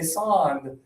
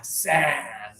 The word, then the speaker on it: sand: So the problem happens when students do and they say sand, kind of like British way. This is California. We do sand.